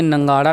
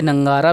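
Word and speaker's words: नगाड़ा: नंगाड़ा शब्द को उधर बस्तर में कई जगह नंगारा नंगारा कहते हैं, जैसे दीपक का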